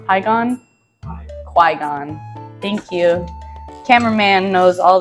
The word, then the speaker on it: Qui-Gon: I don't know how to say his name igon igon Qui-Gon thank you cameraman knows all this stuff